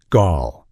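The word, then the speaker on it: Gaahl: One of the most famous and intimidating figures from this scene is a singer who goes by the name Gaal, pronounced Gaal.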